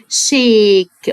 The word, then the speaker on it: shake: يسلم بالايد، بيسلم بايده اسمها الاس اتش انطقها شا، الاس اتش انطقها شا. شيك، والاي في الاخر ما بنطقهاش.